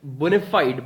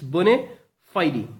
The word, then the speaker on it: bona fide: see over here it's bona fide e it's Phi D okay there's a sound there's a very little sound of I after D bona fide e okay